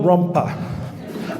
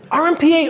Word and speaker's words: RMPA: can see the rest we don't go rumpa right I've actually heard a couple people do this in the past and I've never stopped them and slap them upside the head but we don't we don't do rumpa all right just FYI don't do that you know we don't